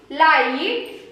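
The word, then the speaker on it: light: और आई के बाद जीएसटी आए तो उसको भी आई ही उच्चारण करते हैं, उसको भी आई ही उच्चारण करते हैं। ल आइट लाइट, एल आई जी एच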